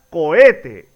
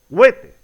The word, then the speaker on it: cohete: Se pronuncia cohete y no huete.